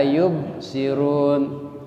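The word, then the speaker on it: يبصرون: Yub ba mati hukum bacanya. Hukum bacaannya qalqalah. Ya, jadi dimantulkan. La yub ya la yubsirun. Jadi harus terdengar mantul ya.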